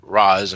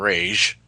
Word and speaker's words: Ra's al Ghul: Well, there is an accent mark on the A in Raz and Rage. So maybe it's because of that accent mark it's pronounced as Rage. Personally, I like Raz more. Batman Begins pronounced it as Raz.